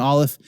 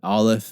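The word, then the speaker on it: aleph: first letter is an olive it looks like an expert it's not the the one of the crossbars doesn't quite meet in the middle and this is a silent letter it doesn't make a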